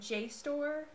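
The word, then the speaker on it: JSTOR: academic search Premiere and J store which is spelled jst o r all capital letters um so those are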